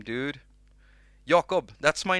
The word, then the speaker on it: Jakob: a little look shall we let's see what jacob jake now i'm saying my